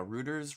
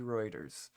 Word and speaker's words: Reuters: but mainly from uh Rooers writers, forget how to pronounce it. want to say Rooers, but um Reuters. Rooers, right? Reers. Reuters. Oh, so close.